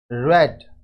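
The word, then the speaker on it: read: राज ने पढ़ा, राज रेड। रीड को वर्ब का सेकंड फॉर्म में रेड प्रोनाउंसिएशन होता है।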